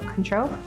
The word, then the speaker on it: Cointreau: you can use I don't know how to pronounce that. Cointreau? Cointreau? Cointreau.